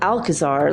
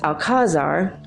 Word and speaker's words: Alcazar: The way it's spelled, you want to call it Alcazar, like Alcatraz, but it was Alcazar.